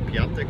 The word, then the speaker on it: Piątek: Yes, he's called Piątek, not Piątek, although that's how you write it. Polish pronunciation is one of the big riddles, or the big mysteries. In Europe, I say, because you never pronounce it how it's written.